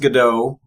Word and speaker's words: Gadot: I've heard it pronounced Godot, but I think it's Gadot.